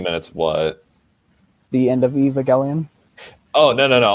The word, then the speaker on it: Evangelion: i'm kidding i'm like what's up evangeline if that's how you pronounce it what is that it's it's pronounced evangelion no it's from that